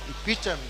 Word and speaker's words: epitome: Okay, look at that word and please pronounce it for us. Epitome. Epitome.